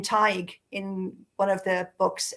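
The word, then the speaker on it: Tadhg: is are they going to be able to pronounce the names and in fact in my Irish series I I use the name TIG in one of the books um I can't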